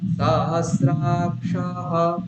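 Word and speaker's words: সহস্রাক্ষঃ: হ হচ্ছে এইরকম, তাহলে সহস্রাক্ষাহ, সাহস, তারপর আবার সকারের নিচে দাগ রয়েছে, তাহলে তারপরে স্রতে উপরে রয়েছে, তাহলে প্রথম সকারে আমি নিচে নামিয়ে দেবো, কিরকম হবে, পুরুখাহ সহস্রাক্ষাহ সহস্রপাত, বুঝা যাচ্ছে কিরকম হলো, পুরুখাহ সহস্রাক্ষাহ সহস্রপাত, বলুন।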